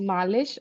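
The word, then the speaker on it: Malish: तो आई बताया उन्होंने मुझे अपना नाम भी बताया कि मेरा नाम मलिश है एम ए एल आई एस एच तो पूरा वो अल्फाबेट भी नजर आया मुझे वो पूरा विद स्पेलिंग बिकॉज़ आई वास कंफ्यूज्ड इट वाज़ मालिश और इट वाज़ मालिश सो मलिश था वो एंड फिर लास्ट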